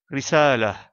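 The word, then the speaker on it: رسالة: Le dernier mot, risala, termine également par la lettre Ta marbuta, mais comme on fait la pause, on la prononce comme la lettre Ha et on délaisse la voyelle qui lui est associée. Risala.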